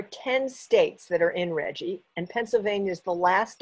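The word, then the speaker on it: RGGI: our state right now it's called reggie spelled with capital letters r g g i reggie stands for the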